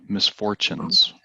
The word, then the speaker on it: misfortunes: The this T, it's pronounced ch, misfortunes.